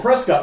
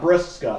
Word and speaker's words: Prescott: porn star tech Prescott oh Prescott not breast Scott okay so you just said it wrong gotcha I had a